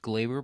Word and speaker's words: Gleyber: Well, first of all, I think it's pronounced Glaber because John Sterling, whenever he hits a home run, calls it Glaber Day.